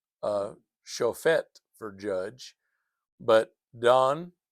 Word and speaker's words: Dan: But, Don, Dan d a n, I'm saying it sounds like d o n d o n in English.